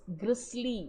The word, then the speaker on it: grisly: Now, I have deliberately pronounced it as grisly instead of grizzly, because I got, when